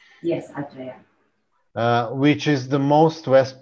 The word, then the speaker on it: Aceh: Aceh, is this the correct pronunciation? Yes, Aceh.